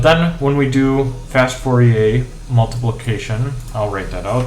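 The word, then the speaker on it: Fourier: when we do fast 4A multiplication I'll rate that out that is fast Fier without the r pronounced um fast Fier multiplication um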